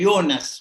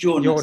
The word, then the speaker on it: Jonas: All the time you have been speaking yourselves about the German philosopher اسمه يونس مش جونس لا ينطقون الجي.